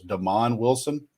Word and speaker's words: Damon Wilson: I think, to me, the news of the weekend, and I've been pronouncing his name wrong. I was corrected. It was Damon Wilson, is what I've heard.